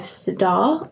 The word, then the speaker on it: Sirdar: a crochet along with sadar I think that's how you pronounce it s-i-r-d-a-r and um they're still